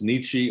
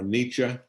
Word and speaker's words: Nietzsche: His last name is a rather of a challenge to spell, but really it's pronounced Nietzsche or Nietzsche. You can pronounce it either way.